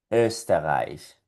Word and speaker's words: Österreich: Para producir este sonido tenemos que poner nuestra boca en forma de O. Solo la forma, en forma de O. Pero desde nuestro tracto vocal va a salir el sonido E. Por lo tanto saldría algo así, mira, forma de O y sonido de E. E, E, E.